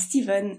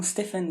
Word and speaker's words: Stephen: L'auteur, c'est donc Stephen King, et oui, on prononce Stephen et non Stephen ou Stephen.